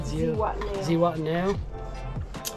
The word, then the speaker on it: Zihuatanejo: trip, surf trip down the coast to Ixtapa, Zihuatanejo. How do you say it? Zihuatanejo.